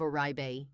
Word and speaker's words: Oribe: Now if you've never heard of orbe here's why this matters to so many people. Oribe pronounced Orbe is a genuine luxury name in hair care.